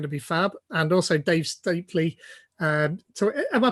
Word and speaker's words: Dave Stapley: And also Dave Stapley. Am I pronouncing that right, by the way?